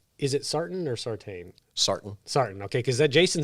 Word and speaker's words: Sartain: Sartain.